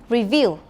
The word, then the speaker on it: review: listen and repeat again review review it has a second stress remember and the word